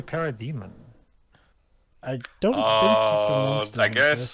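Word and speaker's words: Parademon: Fair ball digivolve to parade Von yeah he said why did he pronounce that it's supposed to be para demon I don't know I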